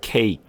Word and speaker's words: cake: 앞에 A자가 있다 해가지고 이게 애자 소리를 내면 안 돼요. 이거는 애도 아니고 애 소리도 아니에요. 이 애보다는 조금 아주 조금 좁힌 소리예요. cake.